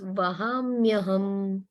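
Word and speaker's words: वहाम्यहम्: This A gets silent and it becomes the A goes away and it becomes Vahamyaham. Okay, the A is silent over here. Aham. Vahamyaham. Yaham Aham. Not hum, just say hum.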